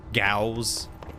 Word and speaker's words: Gauss: Happy subiversary, Gauss. It's like cows, but with a G.